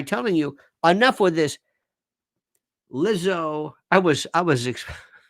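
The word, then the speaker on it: Lizzo: you enough with this lizo I was I was I was pronouncing her Leo the first time go well anyway it's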